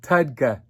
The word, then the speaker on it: TUDCA: want to talk about a wonderful supplement called tudka t-u-d-c-a it's a long uh supplement name about